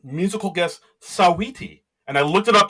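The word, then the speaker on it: Saweetie: Uh we have Simu Leu uh you know Canada's own as the host and u musical guest Sawiti. And I looked it up just to make sure I pronounced it right.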